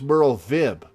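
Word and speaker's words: Merlwyb: to joining our guild oh it's merle vib so the w's are pronounced as v's well have you decided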